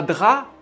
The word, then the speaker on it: drap: comment 2 un drap attention à drap il y a 1 p mais on ne le prononce pas un drap un drap